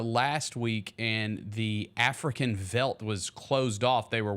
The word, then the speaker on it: veldt: word veldt making its way onto today's show. Isn't that how you say it? That is correct.